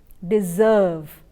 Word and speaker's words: deserve: a sir s in spelling the sound is deserve similarly busy you have s but it's not